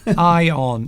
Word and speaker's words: iron: Ion. Yes, don't pronounce the R. Silent R. Yes. Even though some people do.